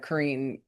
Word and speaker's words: Karine: Um, like what did somebody gave me the the the clue into Karine? Karine the queen.